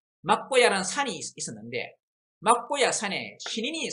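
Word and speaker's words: 藐姑射: 그래서 맞고 살아 할 수 있지만은 이 경우에는 야로 읽어야 된다라고 합니다. 그러니까 맞고 야, 또 어떤 학설을 봐서는 묘고야 뭐 이런 식으로 있습니다. 그래서 일단 맞고야라고 읽겠습니다. 막고야라는 산이 있었는데 막고야 산에 신인이 살고 있는데 앞에 신인이 있었죠.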